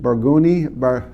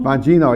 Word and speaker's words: Bongino: And what really got me mad was the guy that they fired was Dan Barguni. How do you say? Bongino? Bongino, yeah.